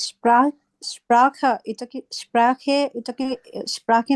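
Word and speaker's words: Sprache: দিকে যারা থাকে তারা বলা হচ্ছে তালিব বাস উচ্চারণ করে যেমন তারা বলা হচ্ছে স্প্রেশা কিন্তু আমরা এপাশের মানুষজন বলা হচ্ছে স্প্রেখে স্ট্যান্ডার্ড জার্মান হচ্ছে স্প্রেকে বলা আপনি যদি দুইটাই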